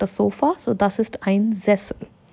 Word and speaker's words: Sofa: So now something very important in any living room would be a sofa. And in German, it becomes Sofa. So that's how pronunciation changes. Sofa becomes Sofa.